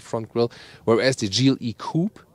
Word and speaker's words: coupé: grille whereas the jeely coupe or coupe a we always say copy because we lean to the French original pronunciation there's also a separate